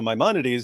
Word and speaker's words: Maimonides: how he pronounced it, but he was like, Maimonides or something. He said something. He gave some ridiculous pronunciation, and then I was responding. I go, okay, so Maimonides. He goes, oh, I pronounced it wrong, and I was like, I